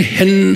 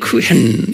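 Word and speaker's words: חן: 한 또는 캔 그래 그러니까 CH 그 복합적으로 발음되는 거예요 그 그 이런 소 그 이런 소리예요 그 그렇게 그래서 그냥 헨 하면 안 돼 그 붙이고는 헨 이렇게 발음을 해 우리 말에는 없는 발음이에요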